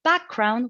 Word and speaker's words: background: Then we got background, which is a compound noun. The tendency also is to be accented or stressed on the first syllable, the first part of the word.